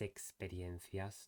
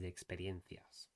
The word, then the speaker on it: experiencias: And the other thing was with when he pronounced the E vowel, the first E sounded a bit like an I. And additionally, the A at the end was reduced to a schwa when we have a